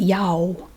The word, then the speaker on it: y'all: into an o basically y'all y'all y'all you don't really pronounce the l like you might be used to it's like y-a-w y'all yo and that's it